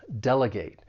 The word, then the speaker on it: delegate: This verb has three syllables. The stress is on that first syllable. Delegate. Now, don't confuse this with the noun because that third syllable is pronounced differently when you say the noun delegate. With the verb, you're going to use that long a sound delegate. Now, I'd also like to